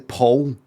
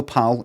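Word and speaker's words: Pål: It's actually Paul. It's no Pal, P-A-L.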